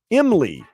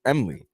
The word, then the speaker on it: MLE: It's spelled M-L-E. Emily. Are you okay with that, Vlad? Say that again? Family's mad at their daughter for naming her daughter Emily. M-L-E. Not Emily. Emily. MLE. So they're upset with the spelling of the name. Yeah. Even though it's the spelling of the name is basically the pronunciation of the name.